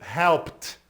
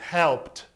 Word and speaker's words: helped: Help no passado vai ser helped, com som de T, helped.